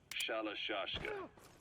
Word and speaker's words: Shalashashka: And by the time I got to hearing about it, pronunciation had wound up as Shalashashka.